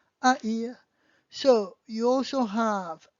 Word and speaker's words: haïr: So Noël, joyeux Noël, or haïr means to hate. H-A, I, tréma, R, haïr.